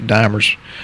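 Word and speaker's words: D-dimer: The D- dimer and I've heard it pronounced dimmer, but I think dimer that's it's a protein fragment.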